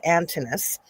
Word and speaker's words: Antinous: So there said the kid, but it's Antinous, as Hercules or Osiris.